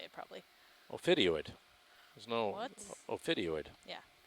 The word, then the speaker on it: ophidioid: Is that hard to pronounce fish again? Ophiodid. Ophiodoid. Ophiodoid. Ophiodoid, yeah. That's how you say it probably. Ophidioid.